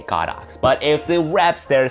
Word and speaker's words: Godox: To me, it's still Godox because the Chinese character that they use for their company name has the word God and Ox. That's why I say Godox.